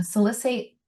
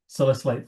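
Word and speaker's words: salicylate: lead to sal uh salicate toxicity. I always say it wrong. He laughs at me so much. Say it for me. Salicellate toxicity, right?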